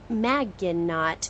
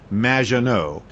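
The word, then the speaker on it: Maginot: It's M, which rhymes with badge. Uh, as in duh, and no as in more than you. Majo.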